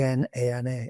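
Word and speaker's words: Jnana: J N A N A and it's a little till day over the N. So it's pronounced Nana Yoga.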